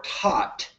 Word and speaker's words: Thoth: Thoth, or Tot, as it's pronounced in ancient Egypt, inspired teachers who were